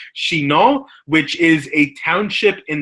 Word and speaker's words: Chinon: not from Chinon, but we would pronounce it as, in my best French accent, Chinon, which is a township in the center of France.